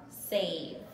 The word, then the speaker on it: save: I need a silent E to make my A a long vowel sound. S-A-V, save.